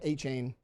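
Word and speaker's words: Achane: I've always said Achain. I've always said Achain, too. That's what Jimbo says and that's that was his coach in college.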